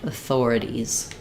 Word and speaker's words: authorities: So authority and then if it's the plural ease, you just add the z sound. Authorities.